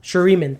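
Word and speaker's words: Shuriman: of your cards are shiruman sheriman i don't know how to pronounce that shariman thank you all your cards are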